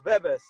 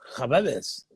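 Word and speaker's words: Khbabez: Well, it's like Kababes. Almost. When you see a K and an H, it's a G. So you have to say Tariq Gbebes. Oh, Khababes.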